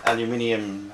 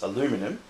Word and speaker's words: aluminium: pretty durable so that's an aluminium hardtop case or for my oneth American friends if you want to drop a syllable it's aluminum at the bottom it's